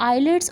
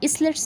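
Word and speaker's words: islets: Group of endocrine cells जो हैं उनको हम आइलेट्स ऑफ लैंग्रेहंस कहते हैं. इसलेट्स नहीं कहेंगे, आइलेट्स जो हैं एस साइलेंट है हमारे पास.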